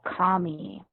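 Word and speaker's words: Kami: we're looking for is called commie and you spell that k-a-m-i it's not an app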